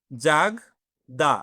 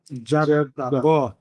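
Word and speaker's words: jardin: দেই এটা হচ্ছে কি আমরা বাংলা যেমন ক খ গ গরুর গ যে উচ্চারণটা আর এর উচ্চারণটাও অলমোস্ট শুরুর দিকে তাই হয় ক। দেখেন জাগ দা আর এর উচ্চারণটা কি হচ্ছে এই জায়গায়? জাগদা ওই গ মানে হচ্ছে জাগদা।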